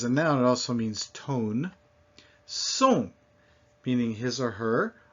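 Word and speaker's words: thon: As a noun, it also means tone. Son, meaning his or her, or is a noun. As a noun, it means sound. Ton, spelled T-H-O-N, but pronounced exactly like T-O-N.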